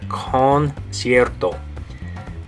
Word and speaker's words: concierto: Okay, now notice in that word it has a hard C and a soft C. The first C is going to be a hard C, make the K sound, concert, and then the second C is a soft C because it has an I right after it, and it makes an S sound. Okay, S sound. So you have K, S, concert.